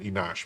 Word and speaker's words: Enoch: It's not Enoch. They pronounce it Enosh.